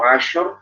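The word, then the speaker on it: عشر: Lalu untuk asyur, hati-hati sini tidak qalqalah. Jangan asyur, jangan asyur, jangan, tapi asyur. Jadi kita sempurnakan sifat tafasyinya. Ash, walayalin asyur, walayalin asyur. Nah, gitu. Asyur. Tapi bukan tasydid ya, itu bukan tasydid. Kalau tasydid itu asyur. Kalau ini kita nggak tasydid. Kita hanya menyempurnakan aliran udara yang ada di dalam mulut kita ketika mengucapkan huruf shin.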